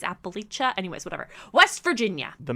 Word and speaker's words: Appalachia: I've heard people pronounce that differently. I personally prefer Appalachia, but apparently it's Appalachia.